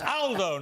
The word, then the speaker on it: Aldo: picked me up but it's Aldo not older Aldo's a very British